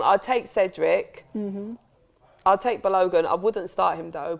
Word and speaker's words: Balogun: How do you pronounce the name? Balogun.